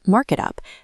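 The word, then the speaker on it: Mrkitup: For example, if you frequently dictate notes about a startup whose name is pronounced Marketup but spelled M-R-K-I-T-U-P, you map that exact phonetic pronunciation to the correct custom spelling right here in the settings.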